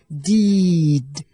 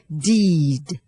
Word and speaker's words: deed: มี ความ หนัก แน่น แต่ ตัว ดี ที่ ตาม หลัง สระ ซึ่ง เป็น เสียง สะกด เนี่ย เรา ออก ให้ เบา นะ คะ ไม่ ต้อง เน้น ค่ะ เช่น deed deed นะ คะ คำ ต่อ ไป